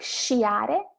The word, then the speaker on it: sciare: have in English, is the sound of the SC combined with the vowel I or E. So it's she or she. It's not sk or sch, but sh. Like sciare, ski, and scendere, to